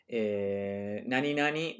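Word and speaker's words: 何々: Nani nani, this little tilde here is pronounced nani nani, like something.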